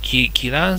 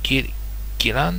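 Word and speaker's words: 宜蘭: のね、北段路線、ギラン線、ギランって読んだかな、忘れちゃった。ギラン、ここら辺にギラ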